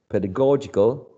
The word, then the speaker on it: pedagogical: green one having the stress on the third syllable pedagogical pedagogical right um P ped PA